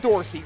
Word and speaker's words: Dorsey: Then it would be Daryl Dorsey. Rhymes with horsey.